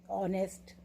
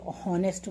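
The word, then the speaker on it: honest: छोटी क्लास से ही हम आपको कुछ वर्ड्स तो बताते हैं, जैसे आर, ऑनेस्ट, है ना. कई बच्चे लेकिन उसको आवर बोलते हैं, हॉनेस्ट बोलते हैं.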